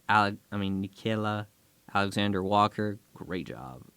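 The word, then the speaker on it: Nickeil: Michael Beasley Jared Vanderbilt Minnesota received Mike Conley Nicola I mean nikayla Alexander Walker great job pronunciation right there yes they got a second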